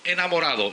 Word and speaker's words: Enamorado: My name is Enamorado. It rhymes with El Dorado.